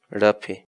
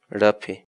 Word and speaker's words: raphi: de videos en la que te enseñamos a pronunciar algunas palabras en quechua. Así que nuestra palabra del día por hoy es... Rapi. Rapi. Rapi.